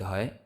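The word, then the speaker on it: ح: সাথে লাগাইয়া জিম উচ্চারিত হয় জিম জিম জি জিম জিম তারপরে আসি হা উচ্চারিত হয় কন্ঠনালীর মধ্যখান থেকে হা তো যাদের আরবি 29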